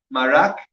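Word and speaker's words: מרק: Marak. Marak is mem. Well, you tell me how it's spelled mem.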